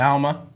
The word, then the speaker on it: Alma: it's- Alma. Oh, Is that that's pronounced cool.